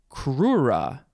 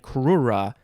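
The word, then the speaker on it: crura: 1751 by the way the plural it would not be cruces it would be kura c-r-u-r-a that's an interesting plural for a word so kruse is the singular and kura is the plural i don't like saying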